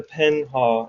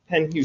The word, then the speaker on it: Penhew: So we would know that the Penhaw, is it Penhaw? Am I saying it right? Penhew, excuse me. I thought it was H-A-W or something. No, H-E-W. H-E-W. Hugh.